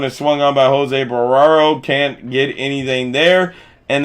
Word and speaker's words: Barrero: As that one is swung on by Jose Barraro, can't get anything there, and that's no balls, 2 strikes. Or Jose Barrero. Jose Barrero, I think, is how you say the name, as Jose Barrero swings